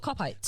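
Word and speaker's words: Kopite: And do you want to know why they're called cop-ites? Because there is a section of the ground called the Cop. Nope, because it Cop-ites. rhymes with gobshites.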